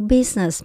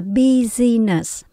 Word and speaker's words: business: Trong chữ business, mình chỉ có hai âm thôi. Mình không đọc là business, mình bỏ âm y chính giữa các bạn nhé.